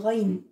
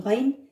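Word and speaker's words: غين: C'est pas au fond de la gorge, au fond de la bouche. C'est vraiment tout au fond.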